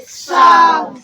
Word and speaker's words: sow: They are spelled as SOW, but they are pronounced in different ways.